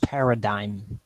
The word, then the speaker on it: paradigm: I'm not swearing yeah it's pronounced paradigm paradigm paradigm but yes there's a